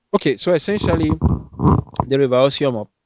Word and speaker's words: Osiomo: Okay, so essentially, the River Osiomo, certain people say that actually is Oriomo, but the English probably could not pronounce it, so they named it Osiomo.